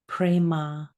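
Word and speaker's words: prema: a m pronounced aham the second word is prma p r e m a prma the meaning of this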